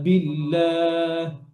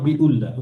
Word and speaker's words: بالله: দুই শব্দের মাঝখানে যদি হামজা ওয়াসল আসে, আপনি যদি মিলিয়ে যান তখন হামজা ওয়াসল সাইলেন্ট থাকবে, পড়া হবে না, স্কিপ করবেন। ওকে, সো কিভাবে? লা কুওয়াতা ইল্লা বিল্লাহ, বিল, নট বিউল্লাহ।